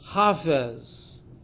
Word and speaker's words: Hafez: helpful which is that the divine name is hafiz the name of the persian poet is hafez okay so they're very closely related the meanings are the same but the pronunciations are different and the sound code